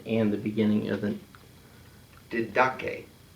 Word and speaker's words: Didache: Didache. Okay, so there's no D on the first syllable at the end.